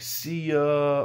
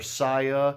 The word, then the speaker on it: Sia: Beautiful Pain is a magnificent song, which he does with, her name is like Sia or Sia. It's spelled S-I-A, and she's a great singer too.